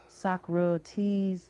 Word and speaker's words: Socrates: So, I said so because that's the way I had always assumed it was pronounced. There was a moment silence before I heard someone whisper Sakro.